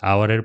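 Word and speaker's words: hour: letter কিন্তু এইচ হচ্ছে এখানে সাইলেন্ট লেটার এটি উচ্চারণ শুরু হয়েছে ভাওয়েল দিয়ে ভাওয়েল সাউন্ড দিয়ে এ কারণে এর পূর্বে আওয়ারের পূর্বেও কি এন বসবে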